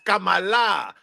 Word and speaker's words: Kamala: We have all the best writers, and just so you know, her name is actually pronounced Kamala. See, that's why people don't understand. It's Kamala, right?